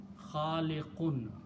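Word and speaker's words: خالق: want to stop here, then I will pronounce this khaliq. These two dhammas noon sound will go away, and a stop sound will come out with the sound of sukoon or jazm.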